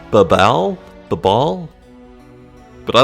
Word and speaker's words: Babel: Okay, maybe that's pronounced Babal? Babal? But I like Babel.